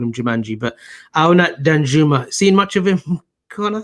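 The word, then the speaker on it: Arnaut Danjuma: Actually, I'm not going to flag them now, but Aurnat Danjumer is the name. That's how you pronounce it. No. Aurnat Danjumer is the name. I actually pronounced it as Aurnat Jumanji yesterday.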